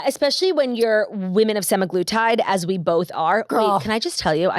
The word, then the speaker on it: semaglutide: Yeah, especially when you're women of semaglutide, as we both are. Girl. Wait, can I just tell you, I saw someone the other day pronounce it semaglutide.